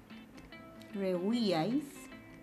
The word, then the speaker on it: rehuíais: El silabeo sería re, ui, ais.